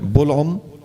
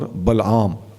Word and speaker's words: بلعم: فرماتے ہیں ہوا بلعم یا بلعام ابن باعورہ، یہ دو تلفظ ہیں، بلعم اور بلعام۔ عام طور پہ لوگ بلم کہہ دیتے ہیں، بلم بن باعور کہہ دیتے ہیں، تو یہ